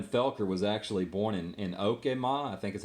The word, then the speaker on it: Okemah: And Evan Felker was actually born in Okemah, I think is how they pronounce it, which is freaking right there close too.